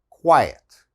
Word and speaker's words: quiet: a kw sound qua another similar word is diet okay this is quiet diet quiet all right and the